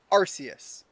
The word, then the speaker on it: Arceus: thought name change again Nintendo verified in some of their in some of their promotion content and some of their actual games that were made that it's pronounced Arceus I stand by this